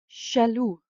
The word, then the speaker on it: jaloux: An example is ja, I, and in imported French words, it is pronounced as a sh. Example would be jaloux, jealous.